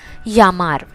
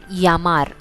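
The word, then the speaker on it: llamar: We have the verb yamar. Yamar. This is double L. But as we know, the pronunciation for double L is ya. So yamar.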